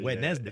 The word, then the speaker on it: Wednesday: you pronounce it ND, but you spell it DN. Yeah. Wednesday.